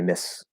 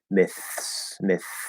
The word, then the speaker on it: myths: So instead of saying myths, we'll say miss. There are many myths out there. Now, there's a little bit of a range there where fully clearly enunciated, fully pronounced, you're going to hit the TH, you're going to hit the S. It's going to be nice and clear. Myths. And we hear that transition between the TH and the S.